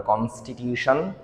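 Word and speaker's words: constitution: বলে কনস্টিটিউশন মনে রাখতে হবে টি আই ও এন যদি শব্দের শেষে থাকে তাহলে উচ্চারণ হয়শান নট সন এরপরে আছে সংশোধন তো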